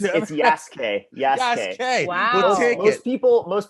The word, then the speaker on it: Yasuke: I don't think I'm pronouncing that right. Oh, you're pretty close. It's Yasuke.